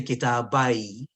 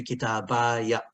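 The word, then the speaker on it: كتابيَ: So if I stop, I say kitabai. But if I don't stop, I say kitabaya.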